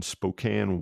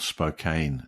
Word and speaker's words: Spokane: That I would have called Spokane, incidentally. See, there you go again. Everybody starts to lose their mind here when someone says that. That's the British pronunciation of it.